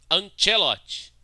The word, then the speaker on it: Ancelotti: Ancelotti. Tá, desculpa ser chato, cara, mas como ele é italiano, então a pronúncia correta é Ancelotti, porque o C tem som de T.